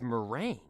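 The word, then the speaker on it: meringue: and use for okay it is mering okay I'm saying it right so it's mering like I remember making that stuff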